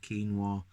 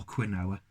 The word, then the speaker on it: quinoa: the dark chocolate with quinoa or Quinn Noah however you want to pronounce it even though I think it's quinoa and orange flavor okay